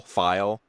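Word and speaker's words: Pfeil: Feel file. P F E I L is how it's Yeah. Is it file? File. Yep. Yeah.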